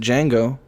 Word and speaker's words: Django: watching the rest of django the d is silent and my heart's just